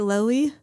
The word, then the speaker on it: Loyee: Am I pronouncing it right? Loyee. Yeah, it comes from loyal customers and loyal employees.